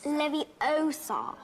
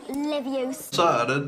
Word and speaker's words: Leviosa: It's Leviosa, not Leviosa. I mean, that's a little bit cooler than just walking up to something and hearing some noise.